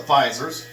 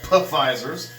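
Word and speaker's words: Pfizer: well I got the fisers the P fisers if you want to say it like it's spelled let me tell you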